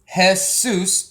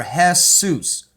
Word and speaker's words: Jesus: Now in Greek, that's how they pronounce it, okay, with that. But in Hebrew, it means the horse. S-U-S means the horse, or Jesus, okay?